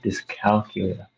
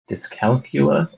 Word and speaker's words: dyscalculia: I have dyscalculia. Dyscalculia or dyscalculia, as they say in the UK.